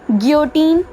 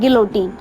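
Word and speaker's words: Guillotine: अब आपको ये तो मैं पिछली वीडियो में बता ही चुकी थी, गियोटीन या गिलोटीन, दोनों प्रोनाउंसिएशन सही हैं, आपको जो अच्छा लगे आप वो करो।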